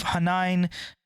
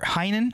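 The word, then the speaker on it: Hainan: years partly out of Hanan or Heinen how do you say that h-a-i-n-a-n INE whatever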